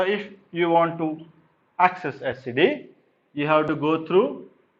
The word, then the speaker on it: etcd: It's called etcd. etcd. It's pronounced as etcd, etc. d.